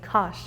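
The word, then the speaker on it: kar: In Turkish, we say kash. R sound at the end.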